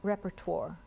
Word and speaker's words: repertoire: Repertoire. Is there an alternate pronunciation? Repertoire.